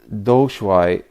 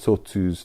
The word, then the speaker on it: Doushuai: been trying to uh use the pinion pronunciation for the names of these Chinese Masters because being trained in a Japanese line all of these have Japanese pronunciations but it's not actually how they were pronounced so uh doai is this one although for me even so it's very difficult not to know it as Toot's three barriers it's a very sort